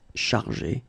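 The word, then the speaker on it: chargées: In both cases, you don't pronounce e and you don't pronounce s. So it will go like chargé, okay, for all the versions.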